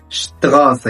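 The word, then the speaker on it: Straße: الاس تي عندنا بتنطق شت zum Beispiel شتغافة يعني شارع.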